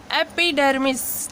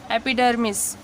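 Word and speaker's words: epidermis: जैसे इसको पढ़ते हैं हम एपिक, ठीक है, इसको पढ़ते हैं एपिक, इसको पढ़ते हैं एपिडर्मिस, ठीक है, एपिडर्मिस, एपिडर्मिस।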